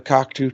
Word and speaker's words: Cocteau: Is that what it was pronounced, Joe? Yep, Cocteau Twins. Yeah, the Cocteau Twins. It had one of the guitarists from the Cocteau Twins.